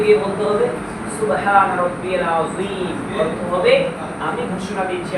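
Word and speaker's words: عظيم: এইভাবে নামাজের মধ্যে আমরা অহরহ বলতে হবে, রুকুতে গিয়ে বলতে হবে সুবহান রাব্বিয়াল আযীম, অর্থ হবে আমি ঘোষণা দিচ্ছি আল্লাহ তাআলা সবচেয়ে পবিত্র। কিন্তু আযীমের জায়গায় আমরা মোটা না করে আমরা সোজাসুজি বলি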